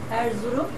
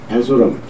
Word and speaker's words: Erzurum: Erzurum. Erzurum, yes.